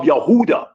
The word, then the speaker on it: Yehuda: like the descendants of Yehuda or Huda which is the true pronunciation of Judah Mr.